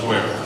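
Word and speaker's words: Feuer: It's pronounced Fuer. Thank you. F-E, that's F-E-U-E-R? That's right. Got it, thank you.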